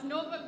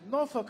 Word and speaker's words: Norfolk: I've been told it's like there's an apostrophe somewhere in there. And it gets a little bit shortened, so we pronounce it Norfolk Island.